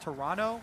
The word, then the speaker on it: Toronto: prepare to head to Toronto I was told actually by a tweet it's pronounced Toronto with no uh no T oh yeah today I